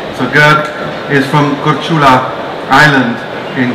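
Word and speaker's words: Grk: uh basically it's pronounced gerk it's one of the few languages to have three consonants together making up a name so gert is from kurchula island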